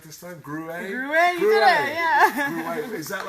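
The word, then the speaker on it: Gruet: Gruyere, you did it, yeah.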